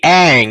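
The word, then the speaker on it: Aang: her name yeah Chad how did they pronounce Ang wrong they pronounced it on on yeah but was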